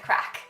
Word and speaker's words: craic: history, stay for the crack. Not that crack, a different crack. So this crack is spelled C-R-A-I-C, which basically is the Irish for fun.